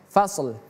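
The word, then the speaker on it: فَصْل: Ini shad. Ingat fasl. Hadza yaumul fasl. 1 2 3 hadza yaumul fasli fasad masuk li fasli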